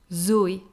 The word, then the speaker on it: Zoé: Zoé.